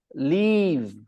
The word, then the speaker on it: leave: If you are confused between the pronunciation, then remember the first one, Live, you pronounce it with soft tongue, live. Soft tongue, live. And when you say Leave, your tongue is hard, leave.